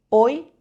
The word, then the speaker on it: hoy: La H nunca suena. Hoy, hamburguesa.